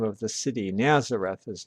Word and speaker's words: Nazareth: name of the city Nazareth is not. With respect to the place name the Greek accent is on the last syllable. Nazdereth. While the Latin accent is on the second to last syllable, Nazareth.